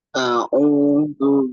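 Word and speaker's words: أعوذ: Kita kembalikan huruf ainnya. A'u, a'u, ya. A'udzu billahi minasy syaithanir rajim.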